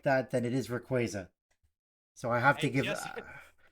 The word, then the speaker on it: Rayquaza: Rico quaro sorry and if they're going to pronounce it like that then it is Rayquaza so I have to give and just like